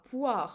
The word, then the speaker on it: poire: In here, you will notice that the OI in French is always, or almost always, pronounced wa, poire, like moi, toi.